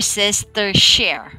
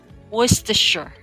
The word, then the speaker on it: Worcestershire: the last one okay you may be pronouncing it or sister share right even me i'm having a hard time to pronounce this word so word sister share right so actually we pronounce this as worcestershire okay one more time what's this shirt or in a british accent it's worcestershire in american english they will they will say words to sure okay a country or